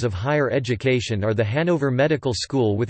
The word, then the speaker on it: Hanover: The English pronunciation, with stress on the first syllable, is applied to both the German and English spellings, which is different from